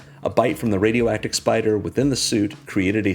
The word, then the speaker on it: SP//dr: Now a teenager, Penny fights crime as Spider, which I can only assume is pronounced just like it's spelled.